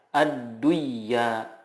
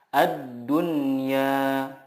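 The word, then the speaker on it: الدنيا: Contohnya ad-dunya, tidak dibaca ad-duyya, tetapi yang benar adalah ad-dunya.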